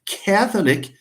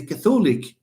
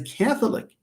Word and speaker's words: Catholic: That's why when you say Catholic, you pronounce it as Catholic. You don't say he is a Catholic. No, he's a Catholic.